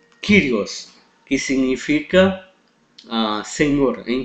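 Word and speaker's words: κύριος: Jota omicron Sigma kirios Não não é correta a pronúncia curios Ok então quando o y tiver junto a uma consoante a sua pronúncia é de I Ok então por exemplo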